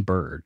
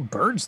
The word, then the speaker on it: Byrd: But this guy was a real guy, like Richard Evelyn Byrd Jr., and that's his real name too. It's Byrd is spelled B-Y-R-D, not like Byrd.